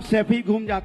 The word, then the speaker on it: सैफई: सैफई तो बोलना सीख जाओ, सफाई नहीं है, सैफई है।